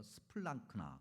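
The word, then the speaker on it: σπλάγχνα: 마음이라는 단어를 우리말 성경에는 이렇게 저렇게 다양하게 번역을 해놨기 때문에 이걸 그냥 헬라어 발음으로 일단은 들어보세요. 스플랑크나 그렇게 발음하는 그 단어예요.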